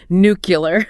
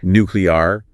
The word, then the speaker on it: nuclear: Well, the correct pronunciation of nuclear actually involves like three distinct syllables, you know, okay, nuclear. The emphasis is on that first syllable, right?